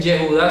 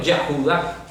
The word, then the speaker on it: Yehudá: Ahora ya no dicen Yehudá, sino Yahudá. O sea, Cualquier judío que lo oye se ríe, ¿eh? se va a reír.